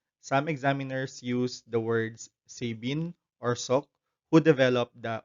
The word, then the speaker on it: Sabin: be oral polio vaccine a little disclaimer though the developer of the opb vaccine is pronounced as sabine the ipv developed by